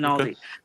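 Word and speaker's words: Einaudi: Oh my God, I'm trying to pronounce his name correctly. It's okay. Leduco Analdi. Okay. And Aldi. Yes, Okay. Analdi.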